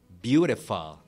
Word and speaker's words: beautiful: for example be be beautiful you see when you say you are beautiful you see you express beautiful correctly you stress on bu it's a beautiful day